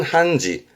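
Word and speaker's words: 判事: 발음은 한지, 한지.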